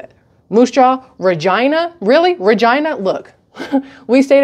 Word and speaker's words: Regina: So when I would say Regina, I thought I was being amusing. Now it sounds like I was being an ass, because that's actually how they say it, which is also really freaking cool that your city is named Regina. Like vagina, but Regina, but with an R.